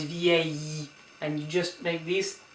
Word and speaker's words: vieille: And the feminine version is vieille. So it's vieille, and the long E at the end. Vieille, vieille. So please don't pronounce this L here, yeah? So it's not vielle, but it's vieille.